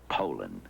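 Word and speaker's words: Poulan: And for over 30 years, they've been mispronouncing our name. Poland. Poo. So we'd like to remind you that our name is Poland.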